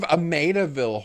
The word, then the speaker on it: Amityville: Olen, unfortunately, it's pronounced Amityville. You are correct.